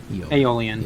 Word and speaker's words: aeolian: it's definitely aeolian um am i pronouncing that right aeolian you got it take the pasta aoli oh yeah okay alien